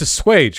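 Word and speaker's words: assuage: a backwards form of racism that exists to swash the guilt of smug liberals the expensive a swatch you mean it's a swage right i know i mispronounced words a lot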